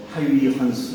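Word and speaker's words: Huygens: 그 다음에 거의 동시에 그 네덜란드 사람 옛날에 이제 호이겐스라고 불렀는데 네덜란드 원적으로는 뭐 하위 헌스 뭐 이렇게 불러야 된다고 해서 교과서에는 어떻게 나오는지 모르겠는데 하위 헌스 지가 이제 그 발음이니까 그래서 이 하위 헌스 호이겐스가 한 거죠.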